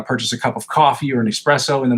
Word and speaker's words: Ko-fi: I don't think it's Ko-fi. I think it's pronounced coffee, because it's got like the little coffee thing with a heart in it.